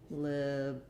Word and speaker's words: liberate: So liberate, also first syllable stress, also our I vowel, liberate. And then we have the A diphthong.